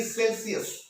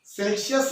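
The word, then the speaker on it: Celsius: ആ അബ്സല്യൂട്ട് സീറോന്റെ അളവ് എത്രയാണെന്ന് ചോദിച്ചാൽ -273.15 ഡിഗ്രി സെൽഷ്യസ്. സെൽഷ്യസ് എന്നല്ല പറയേണ്ടത്, സെൽഷ്യസ്. അതാണ് അതിന്റെ കറക്റ്റ് ഉച്ചാരണം.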